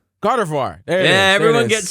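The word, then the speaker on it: Gardevoir: Gren grador Gren oh oh oh my God gardivoir gardivoir there is yeah everyone gets r and then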